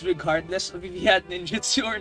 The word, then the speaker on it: ninjutsu: I Wow, that sounds so wrong. pronouncing it not like how it's supposed to be pronounced just cuz I was putting on an accent for this character. But njutsu, I guess.